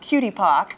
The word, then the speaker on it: QTPOC: I've heard it pronounced cutie pock.